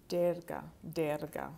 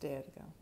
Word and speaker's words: Durga: Durga. Okay. Derga is pronounced Derga.